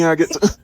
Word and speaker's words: agate: That's fucking agate. That was a Grand Budapest reference. Except I said agate and not the bad word. Until I heard somebody pronounce it, I was calling it a gate.